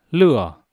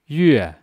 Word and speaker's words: 乐: 叫苦叹口。德文丁中主的德格为乐。Khi đọc là lửa có nghĩa là vui vẻ, cười. Khi đọc là yue có nghĩa là âm nhạc.